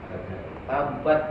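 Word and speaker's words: تَبَّتْ: tab tabat ya. Tabat ya. Ini pakai tasdid ya. Makanya dibacanya tabat.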